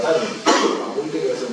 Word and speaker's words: Tanja: Se escribe Tanja, T-A-N-J-A, pero se pronuncia Tania.